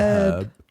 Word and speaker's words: herb: how Americans pronounce herb we say herbs or herb they say herb without the H with the you know